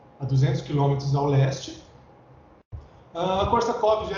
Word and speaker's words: Korsakov: Esse V mudo no final, eu percebi aí pelo tradutor que ele tem som de F no final, né?